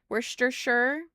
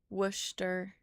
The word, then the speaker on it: Worcester: Um, what's the like worster worstershure worsh? That's not I was not trying to open that. Thank you very much. Charg, how'd I do? Track package. Worester. Worester. Worcester. It's worester. Only missed two syllables.